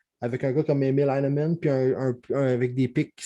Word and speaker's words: Heineman: Tu veux-tu me donner son nom de famille là, que je suis incapable de prononcer? Emile Heineman.